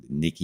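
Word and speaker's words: Nikkei: did really well yesterday we figured out how to pronounce the japan uh nikki i yield index we're just going to call it the nikki index or we'll refer to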